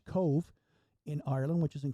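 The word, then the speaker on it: Cobh: The next stop then was in Cove, although it looks like it's spelled Cobb, C-O-B-H, Cove, in Ireland, which is in County Cork.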